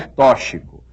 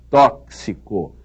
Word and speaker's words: tóxico: E não é tóxico, é tóxico. Da palavra tóxico vem todas essas aí. Intoxicado, intoxicar, intoxicação e por aí vai. Esse X deve ser lido como se houvesse aí um C e um S, não é? Ou no alfabeto fonético um K e um S, para quem prefere essa linguagem, não é?